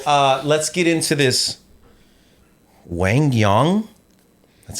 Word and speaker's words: Quang Duong: Wangyang, that's how you pronounce it. Also known as Kuang Duang, also known as QD.